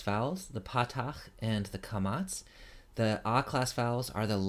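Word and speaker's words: קָמָץ: The long A vowel is called a kamatz. Sometimes you will hear it kametz.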